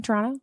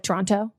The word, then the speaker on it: Toronto: And then also you hear how I'm pronouncing it, very Canadian. Toronto, not like Toronto.